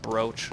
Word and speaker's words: brooch: big and beautiful yeah it's pronounced brooch really odd all right so this